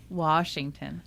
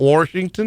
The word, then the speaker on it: Washington: Washington. Not Washington? Not Washington. Doesn't have an R in it, does it, Tracy?